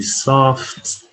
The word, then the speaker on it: soft: a capital t soft you want the examiner to hear you pronounce the tea soft soft extremely soft all